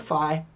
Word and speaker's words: phi: look at are called fee and Kramer's V now fee it's pronounced fee but if you want to call it Phi that's okay by me we only use it